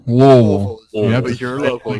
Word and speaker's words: Louisville: basically right smack on the south side of Louisville, Kentucky, or Louisville or Louisville, depending on whether you're from there, around there, or nowhere near there. Louisville. Louisville.